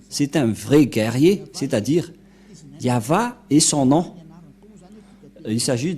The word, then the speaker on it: Yahvah: C'est pourquoi ils l'ont enlevé de leur Bible, le terme Yahweh, car ça n'existe pas. Yahva is man of war. Je vais traduire en français. Yahva est un vaillant guerrier. C'est un vrai guerrier, c'est-à-dire Yahva est son nom.